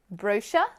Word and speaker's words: brochure: Americans do not pronounce this word brochure. It's not brochure, It's brochure. We need that sound. We need the sound like in burger. Brochure, not brochure. Put the stress on the second syllable and make the sound like in burger with that voice.